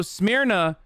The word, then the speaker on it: Smyrna: So Smyrna is how you say Izmir in Greek.